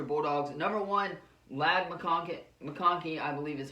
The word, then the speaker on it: McConkey: for the Georgia Bulldogs number one lad McConkey McConkey I believe is how you say his name